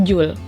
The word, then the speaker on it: joule: Dimana usaha di sini, W adalah usaha, yang satuannya adalah joule. J ini bacanya joule, tulisannya joule.